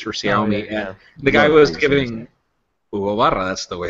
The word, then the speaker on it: Hugo Barra: Guy was giving Hugo Barra. That's the way it's pronounced.